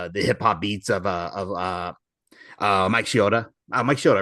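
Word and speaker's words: Shinoda: into like the hip hop beats of Mike Shioda. Mike Shioda, right? Is his name? Noda.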